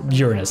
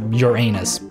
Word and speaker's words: Uranus: And it is pronounced Uranus, not Uranus.